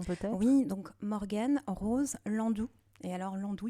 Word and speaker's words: Nlandu: Donc Morgan Rose Landou. Et alors Landou, il y a un N avant. Alors, on le prononce pas mais il s'écrit.